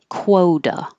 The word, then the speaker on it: quota: quarter and then quota this one same thing your lips are rounded while you're making the K and then they get less rounded and then more rounded quota uh this one has